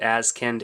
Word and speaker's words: Azkend: I think that's how you say it, Azkend, A-Z-K-E-N-D.